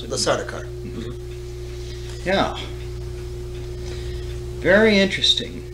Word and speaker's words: Sardaukar: As he is speaking to the Sardaukar, pronounce it? The Sardaukar.